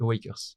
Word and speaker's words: AwaCœurs: la vraie prononciation officielle, c'est Awakers.